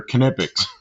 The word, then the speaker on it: Knipex: So I went to their website, and they actually tell you they're Knipex. They tell you how to pronounce it.